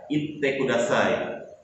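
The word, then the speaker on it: 言ってください: Yaitu adalah kata itte kudasai. Ingat ya, itte kudasai. Ditahan pengucapannya.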